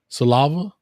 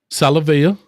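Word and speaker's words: Salave'a: Salava. I always say his name wrong. Salavea.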